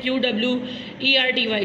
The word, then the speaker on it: QWERTY: जिस तरह से आपके अल्फ़ाबेट अरेंज हुए होते हैं कीबोर्ड पे, वो इस तरह से होते हैं QWERTY, जिसे हम QWERTY करके प्रोनाउंस करते हैं।